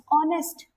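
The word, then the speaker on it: honest: अच्छा, अब देखो ऑनेस्ट, इसमें एच, एच क्या है? इसमें साइलेंट है। क्या है? साइलेंट है। इसमें आर में भी एच क्या है? साइलेंट है। तो साउंड किसका आ रहा है?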